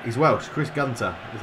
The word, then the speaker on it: Chris Gunter: I call him that it's not he's Welch Chris Gunter is how you pronounce it I only say that Richie the